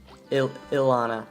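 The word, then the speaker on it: Ilona: i-l-o-n-a um her she's it's pronounced uh ilana almost like you're saying ill anna and then you see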